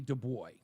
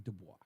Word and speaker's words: Du Bois: Du Bois. I believe his last name is pronounced Dubois, but they say Du Bois.